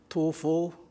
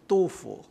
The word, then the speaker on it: Du Fu: This was written by a poet named Tu Fu, but more modern pronunciation really is Du Fu.